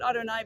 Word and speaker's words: Adonai: And sometimes you'll see the divine name written as Yud Yud, meaning Adonai. We pronounce it Adonai, but it really represents the divine name, because as this Chabad